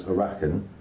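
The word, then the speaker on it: Arrakeen: However, Fremen can move 2 adjacent territories, and if you occupy Arakan or Carthag, here, so Gavin occupies Arakan, so that's how you pronounce it, you can move 3 adjacent territories because there's ornithopters in there, right?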